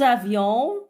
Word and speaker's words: avions: Nous avions, faisons la liaison. Le S ne se prononce pas.